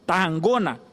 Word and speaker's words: Tarragona: por toda a Catalunha, Tarragona, que é essa pronúncia segundo o catalão.